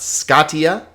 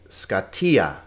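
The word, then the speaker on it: σκοτία: attention to the accents not scotia not scotia but scottia scottia darkness okay finite oh well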